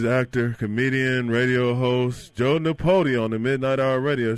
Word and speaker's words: Nipote: Well, could you give us the proper pronunciation? It is Nipote, but that's perfect.